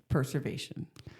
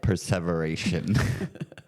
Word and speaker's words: perseveration: you saying it wrong p e r s e v e r a t i o n perseveration perservation that's like preserving something that's not the word she said perservation is when someone